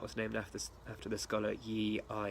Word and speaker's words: Yi I: So similar to pattern Yo-Gok, that was named after the scholar Yi I. It's actually pronounced E. Yi E.